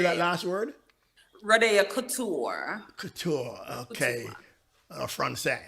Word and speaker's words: Rode'o Kouture: Rodeo Couture. Couture. Okay. Couture. Francais, right? Well, I can't pronounce that.